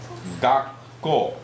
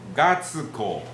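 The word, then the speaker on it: 学校: Do not say Gatsuko. No Gatsuko. Where's the S? Okay? So that's, we don't pronounce. Okay? Gakko. Gakko. Okay? So the two consonants, KK, PP, TT, okay?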